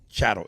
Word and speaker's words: chattel: humans and not animals chatel cattle chattel is that's how you say it chattel uh the way